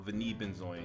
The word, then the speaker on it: Vanille Benzoin: So we're going to start it off with Vanilla Benzoin, or Vanille Benzoin, if you want to be fancy and say it like you're from Paris, or however you want to say it.